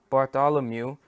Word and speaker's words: Bartholomew: Bart Bart them I gotta learn how to pronounce that bottom okay so BA r th o l om e w so this this this disciple this disciple I'm